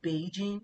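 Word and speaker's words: 北京: Beijing, that's the actual pronunciation. Beijing is a third third tone, first tone. Beijing. So, it's a third tone for Bei, then jing means first tone.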